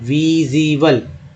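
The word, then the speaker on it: visible: प्रकट या गोचर को बोलते हैं विजिबल, IEBL को ईबल बोलते हैं, इसको यहाँ उच्चारण ज के रूप में हुआ है, विजिबल, है ना, प्रकट या गोचर।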